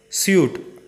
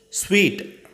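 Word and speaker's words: suite: Many of them mispronounce as suit. It's wrong. Sweet.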